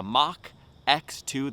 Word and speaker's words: Mach: today in the title No silliness with the pronunciation it's the mock X2 the second generation in the mock X line